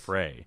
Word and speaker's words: Frehley: Ever since when I was a kid, it was always Ace Frehley, but it's Ace Frehley. It's Ace Frey. I've always heard Frehley. The Frey. That's how I've heard him pronounce it. I've heard the other guys in Kiss pronounce it that way.